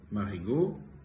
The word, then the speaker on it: Marigaux: reno patelowski president of marigold the french oval company and i wanted to confirm you that indeed marigo is pronounced and the a-u-x at the end of a name is not pronounced so you should consider